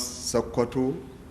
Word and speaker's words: Sokoto: official documentations and correspondences they could not pronounce sakato as it was earlier called by the inhabitants of the area so they used sokoto to simplify the pronunciation of the name of the town in time the settlement